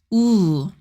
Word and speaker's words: ㅜ: Your lips are also round like O, but your chin moves slightly up. Say it with me. Ooh.